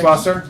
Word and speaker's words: Duschwasser: Yeah, I was trying to figure out how to say it because it has to be a ch, right? Dus. No, sh. It's just It's sch is just sh in German. Dusch. Okay. Duschwasser.